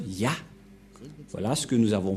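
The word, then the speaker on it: יה: Cette forme se prononce Yah.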